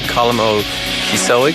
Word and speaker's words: Colm Ó Cíosóig: We're delighted to welcome Colm Cíosóig. Did I pronounce that correctly?